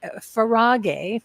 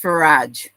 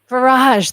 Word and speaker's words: Farage: want to there is a link uh far farag farag right no it's it's pronounced farage farage that's right and you told me that faraj